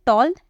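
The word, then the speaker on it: tall: है जैसे कि टॉल टॉल को हम क्या बोलते हैं यही बोलते हैं टॉल ऐसे ही बोलते हैं हालांकि लिखा है ए लेकिन हम उसे ओ की तरह प्रोनाउंस करते हैं वैसे ही फॉल लिखा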